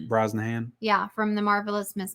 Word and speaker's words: Brosnahan: She was up against Rachel Brosnan. How do you say? Brosnahan.